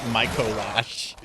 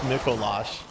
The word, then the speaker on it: Micolash: I kept saying like Moash and now I know it's pronounced Micolash.